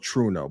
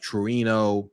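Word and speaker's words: Trueno: so I said like it's called true note but it's spelled t-r-u-e-n-o which is like Torino it's a Japanese name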